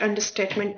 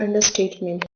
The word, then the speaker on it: understatement: is perhaps the greatest understatement ever spoken in human history. Welcome back. Today we are covering understatement pronunciation first and this one is freshingly straightforward. Understatement. Stress falls on the very first syllable.